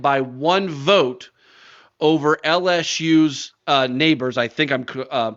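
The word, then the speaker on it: Nabers: Let's start with the Biletnikoff first, which he won on Friday night, and he won it by one vote over LSU's Neighbors. I think I'm pronouncing that correctly.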